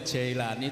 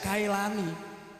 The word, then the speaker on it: Jailani: Yang benar itu tulisannya Kailani, tapi bacanya Jailani. Kenapa? Karena orang Jailan masuk wilayah Iran. Kalau Jailan itu Iran, kalau Hamadan itu Irak, perbatasan. Sana itu kalau membaca kaf dibaca jim. Jadi tulisannya Kailani dibaca Jailani.